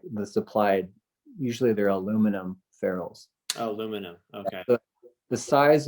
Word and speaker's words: ferrule: I think I always call them Furels. I call it ferrule. It's ferrule. Yeah, it's Ferrel.